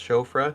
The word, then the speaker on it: Siofra: Siofra, pronounced Shofra.